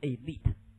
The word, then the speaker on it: elite: 说的 elite 尊双，念作 elite 精英，为社会精英，好吗？